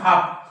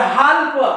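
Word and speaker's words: half: ए एल एफ काप त्याच्यानंतर एच एल एफ हाफ अजून तुम्ही अशा प्रकारच्या स्पेलिंग असू द्या काही ज्या मुलांना वाचता येत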